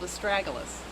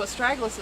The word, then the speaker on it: Astragalus: It's called Astragalus, and that's spelled A-S-T-R-A-G-U-L-U-S, Astragalus.